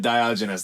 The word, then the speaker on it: Diogenes: but Diogenes, that's how you say it.